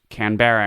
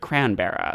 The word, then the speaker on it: Canberra: Am I always like telling people, it's like, did I have to tell you that you mispronounced Canberra and called it Cranberra?